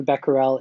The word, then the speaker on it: Becquerel: check out this scientist I think it's pronounced by Parral I think there's slightly different pronunciations but Becker I think is one of the accepted pronunciations for that so Henri Becquerel is sort of one